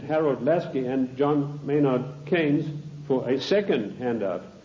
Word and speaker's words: Keynes: or keynes he said Keynes was a better word because it arrived with rhymes with brains and this is a